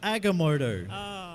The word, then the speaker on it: Agamotto: strange neck go sorry the what the orb Oh anything yes your pronunciation is terrible throwing Amy it is agamotto it's with an it's